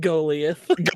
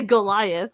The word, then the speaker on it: Goliath: And now the story of David and Golth. Golth. Yeah, I know how to say Goliath.